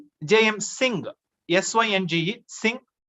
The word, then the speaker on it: Synge: Synge, Synge, S-I-N-G, kind of, that's the pronunciation of this spelling, S-Y-N-G-E, Synge.